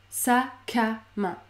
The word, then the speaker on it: sacs à main: Il ne faut surtout pas prononcer le S. Il ne faut pas dire les sacs à main. Ça ne fonctionne pas. Le S est muet.